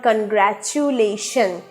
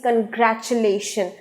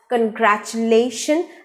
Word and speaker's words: congratulation: o n is never congratulation it is congratulation the u letter in the word is not pronounced as oo sound it is omitted it is silenced so the word is pronounced as congratulation and stress is on